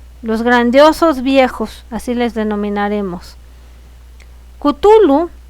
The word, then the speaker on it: Cthulhu: Cthulhu y el descubrimiento de la estatua de Cthulhu, que se descubrió, ¿saben dónde?